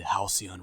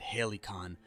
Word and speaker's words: Halcyon: One of them being the Halcyon religion. I finally said it right. I remember in The Outer Worlds review I said Halcyon like a idiot because I